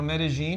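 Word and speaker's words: Medellín: We went to Medi, you know, Medigene, and that's how the locals say it.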